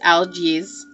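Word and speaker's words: Algiz: an alphabet the old Nordic alphabet okay it's pronounced algaes and it is connected to the animal elk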